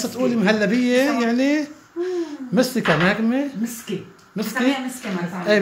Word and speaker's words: مستكة: مستكا اهم شيء مستكا بس تقولي مهلبيه يعني مستكا نغمه مسكي مسكي مسكي ما بعرف ايه بسموها مسكي بس بقى بلاد ال بتكتب بالتاء بس بتلفظ مسكي فهيدي المسكي مثل ما